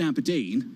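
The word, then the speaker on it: abrdn: plc except it's about a b r d n the new name pronounced aberdeen helpful will be of a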